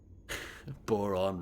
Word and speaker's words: Boron: Boron rhymes with moron.